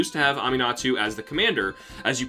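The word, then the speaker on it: Aminatou: Aminatu is actually the way to say her name.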